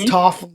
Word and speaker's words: Toph: Oh, Toph. Rhymes with tough.